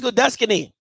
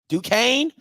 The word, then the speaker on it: Duquesne: That's how random that's Duscany. I'm just pronouncing what it looked like. Duquesne. That listen, it's a lot of letters in there that don't come up with Duquesne.